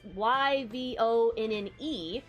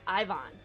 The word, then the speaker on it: Yvonne: is the other spelling of that where it's y v o n n e again here we pronounce it ivonne but it's actually pronounced yvonne and i get